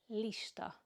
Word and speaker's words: lista: The only difference is that the L in Hungarian is softer. It's L, not L. So you can hear in the word list, in English you say list. In Hungarian we say lista, lista. It's softer, L, lista.